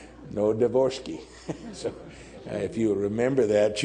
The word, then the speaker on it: Novodvorski: so they asked, and somebody said, "Say it like this, never divorce me." Novodvorski.